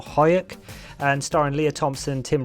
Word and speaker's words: Huyck: in 1986 directed by I think it's Willard huk is how he say his name or hyuk and starring Leah Thompson